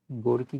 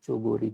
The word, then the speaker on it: Chogori: ठीक है, गोरकी की स्पेलिंग आप कर लीजिए, सॉरी गोरकी कह रहा हूँ, चोगोरी।